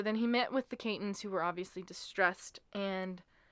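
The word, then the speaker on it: Cayton: been improperly named the Clayton family in a lot of Oh. sources. So I just want to point that out. It's Katyn. There's no L.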